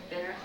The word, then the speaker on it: Benner: I guess I need to give my name to Benner. The 2 additions I need to tell you about. Pronounce that. Put Ben and Earth together and say it fast.